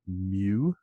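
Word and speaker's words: μ: this Greek letter to represent the population mean mu is how we pronounce that Greek letter recall with proportions we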